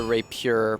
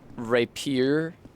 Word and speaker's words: rapier: the rapure please I I don't like it when people say Rapier like two syllables I feel like they're just trying I feel like they're just trying to avoid saying something that sounds like rape you say Rapier they